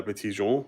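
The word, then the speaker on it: Petit Jean: I mean, really, it's supposed to be pronounced like La Petite Jean, but it's Petit Mountain.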